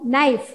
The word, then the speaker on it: knife: So knob, knife, knot, nil, knit, knee. So few words are there. Here K is silent. This K letter is silent. Silent means we don't pronounce that.